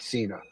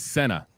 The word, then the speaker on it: Sena: And she pronounces her last name Sena, not Sena, just so you know.